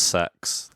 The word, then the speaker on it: CeX: It's actually pronounced sex.